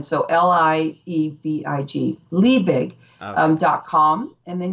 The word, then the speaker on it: Liebig: So it looks, my CPA background, this is so funny because it's spelled lie big, but they flip it a little bit for German. So Liebig, Liebig.